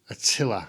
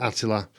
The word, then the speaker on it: Attila: attila so i've heard people pronounce it attila i think they're just trying to be clever then we all know it was that attila unless we can go back in time and ask his mom we're going to stick with attila thank you very much